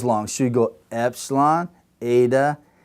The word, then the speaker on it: eta: But when we pronounce this one, which is a long, eta, the tongue is near the top, epsilon, eta. So our tongue moves closer to the roof of our mouth when we say it.